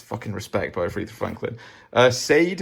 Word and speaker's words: Sade: Sade, as you'd pronounce it properly. Not Sade. It is Sade.